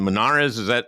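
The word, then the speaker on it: Monarez: He fired his CDC, Susan Menares. Is that how you pronounce her name?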